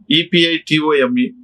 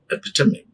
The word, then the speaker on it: epitome: E-P-I-T-O-M-E. How do you pronounce this one? Epitome. Epitome. Epitome.